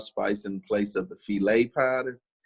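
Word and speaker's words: filé: section it says gumbo filet um or some people may pronounce the gumbo file because it's spelled f-i-l-e but it's a spanish terminology so it's actually the gumbo filet but it comes from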